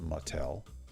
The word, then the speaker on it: Mattel: and Cosmic I'm assuming that's pronounced Mattel like the toy company I guess so we